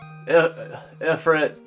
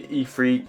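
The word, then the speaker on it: Ifrit: and these summons particularly ephrit I I guess maybe ephre is the best way to is is the proper way to say it. I feel like it's been said both ways at this point in the Final Fantasy series, but I don't know.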